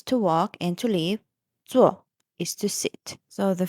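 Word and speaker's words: 坐: "Zuò" is to sit. So, the first one is the third tone. "Zǒu". And then, second one is "zuò" is fourth tone.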